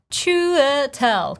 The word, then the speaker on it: Chiwetel: Really take your time, break it down syllable by syllable. Chiwetel.